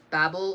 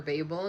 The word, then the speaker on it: Babel: by Tiffany D Jackson Babble or Babel depending on how you say it and you stay I call it Babel uh by RF Quang